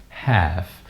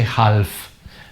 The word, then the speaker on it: half: which you pronounce it half you don't say health the L is silent okay so no health